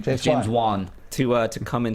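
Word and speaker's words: James Wan: scheduling James vaugh uh right that's how you pronounce his name James Juan to uh to come in studio as well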